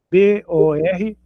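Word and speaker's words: בּוֹר: Então vai ficar B O R bor, outra palavra na frequente na Bíblia, bor, sepultura.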